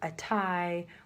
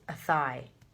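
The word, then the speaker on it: Athy: thought it was like a tie we thought it was this and then yeah it's a thigh and that's like a thigh like how it sounds like a thigh that's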